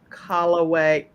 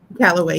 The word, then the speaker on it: Calloway: Make sure you all get a copy of this book by Vanetta Calloway. Am I saying it right? Calloway? Callaway, yes, ma'am.